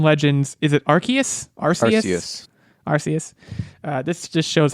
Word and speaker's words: Arceus: know about and i don't know how to pronounce this pokemon legends is it arceus yes arceus uh this just shows how in the know